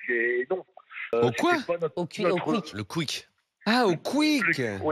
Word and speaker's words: Quick: oui oui j'ai compris parce que Roger prononce à la nordist he ça c'est ri aussi ouais rier aussi dit il dit U à la place de ou mais mais voilà donc